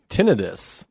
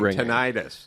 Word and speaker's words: tinnitus: bit about that with tinnitus when your ears are tinnitus which people think it's tinnitus but there's actually an explanation that it is tinnitus because uh nidus like